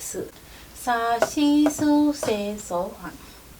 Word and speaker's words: し: in this series is not si, but it is shi し shi (ഷി) This is the only letter in sa series with a slightly different pronunciation す su (സു) Doesn't